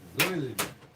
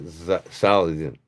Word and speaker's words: Solingen: This is Solingen. I'm sorry. Let me find my Sheffield. Zoilingen. I said it wrong. It's Zoilingen. Well, I found this one. I mean, I don't want to spend the time looking all night for my Sheffield knives, but actually, it's Zoilien, Germany, not Solingen. The Americans pronounce it wrong.